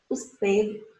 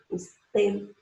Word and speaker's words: usted: Olha só, o D é um D mudo, mas ele é pronunciado de forma leve e relaxada.